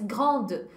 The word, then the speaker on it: grande: Le féminin, aí é só acrescentar um eu depois, e aí eu passo a pronunciar a consoante que veio antes. Grande, petite.